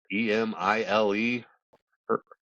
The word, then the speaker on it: Emile Hirsch: E- I Oh, don't know how to pronounce his name. Emile Hirsch, Hirsch, okay.